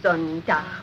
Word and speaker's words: Sonntag: Sonntag, Montag, Dienstag, Mittwoch. That is good, but pronounce the words broader, so Sonntag, Montag, Dienstag, yes?